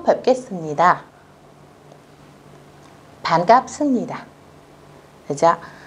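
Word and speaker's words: 반갑습니다: các bạn, đó là chữ bờ mà gặp chữ nờ, chữ biệp mà gặp chữ niên. Các bạn phải đọc thành chữ mờ nhé. Và chúng ta sẽ đọc là sấp ni tà.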